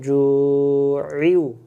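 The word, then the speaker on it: جُوعٍ: আমরা এই শব্দের ভিতরে বলি আল্লাযী আতআমাহুম মিন জু ওয়া আমানাহুম মিন খাউফ, শেষ, সহজ সহজ করে মনে চলে যায়। এখানে আমরা বাদ দিয়ে যাই মিন জুউ, এই অক্ষরটা বাদ দেই। এই অক্ষরটাকে আমরা একেবারেই উচ্চারণ করি না।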